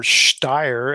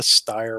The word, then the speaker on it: Steyr: The Steyr, or Steyr, as I think it's probably more properly pronounced.